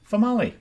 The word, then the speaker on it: Famali: Famali. Female. Rhymes with tamale.